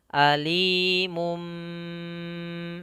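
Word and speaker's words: أَلِيمٌ: Yang awalnya mun, suara n, karena bertemu dengan ba maka terdengar seperti suara huruf mim. Alimum, ini ada tanda mim kecil, berarti kita seakan kita matikan mimnya sambil ditahan.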